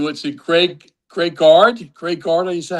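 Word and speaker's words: Greg Gard: Wisconsin coach who was it Greg Greg Guard Greg Guard is that how you pronounce his name?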